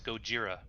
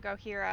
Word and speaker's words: Gojira: how to pronounce it is it gorhira or gojira does it it's me it's me it's gojira oh i was saying gohira i guess because i'm so close to mexico all the js are silent here so go jira okay